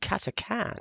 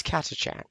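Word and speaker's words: Catachan: decade ago, I heard somebody say, "Oh, it's pronounced Katakan." Actually, um, I, Really? they weren't in any position of authority, so don't believe it. But ever since then, I've naturally said Katakan, but it is Katachan.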